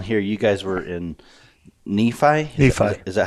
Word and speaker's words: Nephi: Yeah, last time I came down here, you guys were in Nephi? Is that how you say it? Yep. We had it in Nephi for several years.